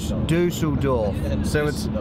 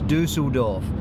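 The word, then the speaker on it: Düsseldorf: he told me that when you pronounce the U with the 2 dots over the top of it, it's oo. Oo. Dusseldorf. So it's Dusseldorf.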